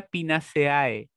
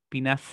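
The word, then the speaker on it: Pinaceae: eso se pronuncian raro entonces esto no se pronuncia pina seae se pronuncia finas y ahora en español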